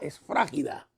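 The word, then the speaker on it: σφραγίδα: Sello en griego es la palabra esfragida, si lo quiere notar, o con acento en esfra, en la esfrágida.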